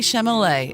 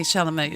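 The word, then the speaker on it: Chalamet: a over the top I think it's Timothy shalam shal Timothy shalam yeah well he crashed his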